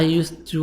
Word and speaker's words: used to: So D is silent. The letter D is silent.